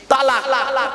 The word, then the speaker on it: তলাক: তালাক। কি বলে? শব্দটা কিন্তু তালাক নয়, শিখে যান আজকে। শব্দটা তালাক নয়, শব্দটা হলো কি? তলাক। কি বললাম? তলাক।